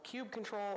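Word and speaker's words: kubectl: also called Cube control also called Cube cuddle or cube for any of those and it has become a little bit of a flicky thing who says what but it's uh I'm looking at you Gwen but it's it's you say Cube cuddle I know I know officially it's Cube cuddle because it got a little cuttlefish but I just can't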